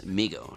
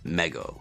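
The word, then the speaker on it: Mego: was mispronouncing their name it's Migo not Meo now let's head over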